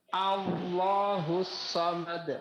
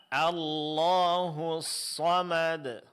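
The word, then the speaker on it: اللَّهُ الصَّمَدُ: Alif hamzatul wasal pada lafaz Allah. A itu tipis. A coba Pak. A Allahu Allahus somad. Nam. Jadi bukan Allah tapi Allahu yang ditebalkan huruf lamnya Pak.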